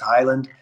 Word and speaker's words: Heyland: It's spelled Heyland. It looks Heyland, but it's pronounced Highland.